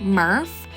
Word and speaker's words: MRF: the materials recycling facility or mrf pronounced Murph where recyclables are brought